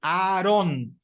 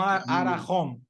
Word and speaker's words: Aron: Olha só como eu pronunciei. Aaron, não Arahom. Perdão. Aaron, com H. É só Aaron.